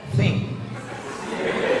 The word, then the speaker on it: think: T sama H itu bacanya think.